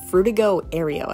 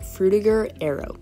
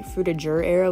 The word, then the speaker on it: Frutiger Aero: think some people say through the juror arrow as well but when i looked it up the european pronunciation which is where the word originated is with a ger not jur so i just went